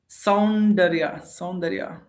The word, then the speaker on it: Soundarya: Soundarya. It's like sound Arya, right? Soundarya, sound Arya.